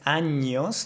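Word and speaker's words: años: words for example like anos that would be the proper pronunciation anos instead of saying that I heard a lot of people saying anos anos so anos anos anos anos you see the difference hopefully that makes sense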